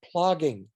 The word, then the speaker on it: plogging: That's something that's called plogging. Plogging is walking while you pick up trash. It's a very Scandinavian concept. Wait, I'll make sure I can say it right. Plogging? Plogging, P-L-O-G-G. Okay. I-N-G, plogging.